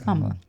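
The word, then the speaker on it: Kamala: kamla I I feel I keep saying her name wrong kamla right it's kamla you endorsed kamla um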